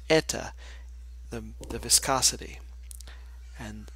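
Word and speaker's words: η: isn't changing this is 8 times this is pronounced Etta the viscosity and it's not changing here and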